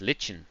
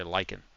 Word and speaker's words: lichen: They used to call it lichen. I didn't really know how to pronounce it until I heard people say lychen.